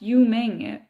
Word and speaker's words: Ying: know it's you're right it's pronounced Ying most people assume it's Japanese and hi oh so